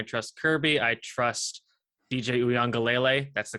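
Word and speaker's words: Uiagalelei: more than I trust Kirby I trust DJ uang gele that's the correct pronunciation you're welcome more than JT Daniels but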